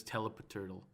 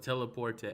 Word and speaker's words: Telepurte: butcher your name constantly i've always pronounced this as telepath turtle well uh there's really no wrong way to pronounce it but usually i hear it either as just telly or teleport teleport is that how you is that how you pronounce it yeah that's that's how i pronounce it teleport i thought it like